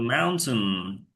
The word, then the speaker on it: mountain: to the mountain.